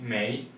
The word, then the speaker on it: 没: You just add this character here, which is pronounced 没, before the verb 有, alright?